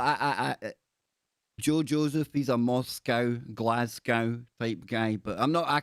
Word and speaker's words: Moscow: I know that you guys over in America like to say Moscow because it looks like cow on the end, right? COW. But I'm going to let you into a little secret, right? We pronounce that in Europe as co, like Moscow.